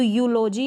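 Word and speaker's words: eulogy: इस स्पेलिंग में तो यूलोजी आपने इसको प्रोनाउंस किया, यूलोजी क्या प्रोनाउंस किया, यूलोजी, ई यू को पढ़ा यू।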